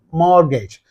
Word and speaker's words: mortgage: why it's okay and T is there it is silent both in the British pronunciation and in the American pronunciation so here your answer